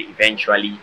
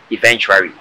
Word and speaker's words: eventually: Everybody's mispronouncing the word eventually to eventuary.